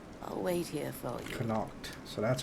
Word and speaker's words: Connacht: Connacht.